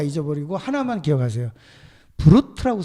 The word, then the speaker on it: Brut: 브루트라고 써 있어요. 브루트. 뭐 프랑스 발음 브루 뭐 이렇게 하는데 예, 브루트라고 써 있어요.